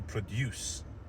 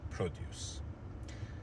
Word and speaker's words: produce: the stress was on the second syllable, to produce something. However, when we created or when we coined the noun, or when we formed the noun, then we shifted the stress to the first syllable in order for it to become produce.